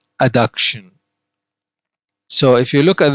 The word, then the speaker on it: adduction: called adduction all right let's listen to the pronunciation adduction adduction now page 60 we have anna this is